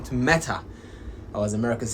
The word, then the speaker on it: Meta: Another one which is interesting, Mark Zuckerberg has announced that Facebook has changed its name to Meta, or as Americans say, Meta.